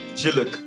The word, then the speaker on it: Jiluk: Okay, first, I need to first teach you the pronunciation. Okay, it Okay. is Yes. it is Jiluk.